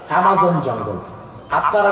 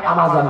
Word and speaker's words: অ্যামাজন: আরেকটা জায়গার নাম বলি, পৃথিবীতে একটা জঙ্গল আছে, অ্যামাজন জঙ্গল। আপনারা যাকে আমাজন বলেন, আসল উচ্চারণ অ্যামাজন। 9টা দেশ নিয়ে একটা জঙ্গল, 9টা দেশ।